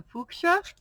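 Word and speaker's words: fuchsia: green that's the chartreuse last one is the fuka which is the correct way to say it because it's a German word put the lid back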